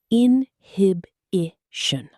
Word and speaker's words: inhibition: Inhibition. 4 syllables. The stress falls firmly on the second. Inhibition. In connected speech, the last syllable softens.